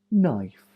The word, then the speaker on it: knife: WR writer wrong rough c n first letter is silent n new knife knives knit night CN first letter is